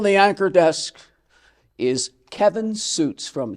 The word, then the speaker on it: Sjuts: had to tell me it'pronounce suits yeah the origin German